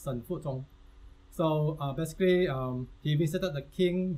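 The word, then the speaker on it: Shen Fuzong: Yeah, the proper pronunciation is Shen Fu Zhong.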